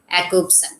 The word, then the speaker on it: Jakobson: linguistic, that is Roman Jakobson. That is spelled with J, but we have to pronounce it as Jakobson.